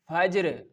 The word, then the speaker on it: Fajr: Wal Fajr, Wal Fajr, Fajr, Fajr. Okay, Fajr. I am not giving any type of rushing or any type of delay in the pronunciation, because I know the perfect pronunciation will comes when we